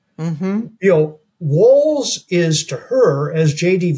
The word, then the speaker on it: Walz: say that walls and it's pronounced I'm told walls not Walts you know walls is to her as